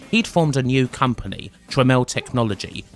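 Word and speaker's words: Tramel: formed a new company tremel technology his own name purposefully misspelt in order to reflect how it was actually pronounced their aim was of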